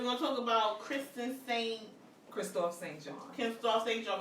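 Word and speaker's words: Kristoff: Yeah, so Christophe, right? Christophe, that's what you pronounce his name.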